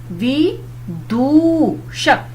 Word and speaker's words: विदूषक: जैसे पहला है विदूषक। अब दू आपने बोला तो बड़े ऊ की मात्रा आई और वि पे छोटे ई की मात्रा आई, तो ये शब्द बना आपका विदूषक।